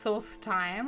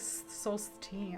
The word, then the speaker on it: Solstheim: back there anymore wait it's pronounced Soul time I thought it was like Soul te whatever I say everything